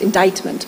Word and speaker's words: indictment: the fact that uh pronunciation in English is sometimes a bit tricky because um the spelling does not really uh lead you to believe that it's pronounced indictment but it is okay so a person